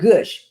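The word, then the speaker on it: Grusch: that investigate them retired uh major David uh gush who went from being part of the uh pentagrams I hope I pronounced no it's gush it's gush it's not gush it's gush it's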